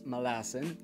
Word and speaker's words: Malazan: the fallen i mean if erickson says malassen then i'll try my best to pronounce it that way simple minds i'm guessing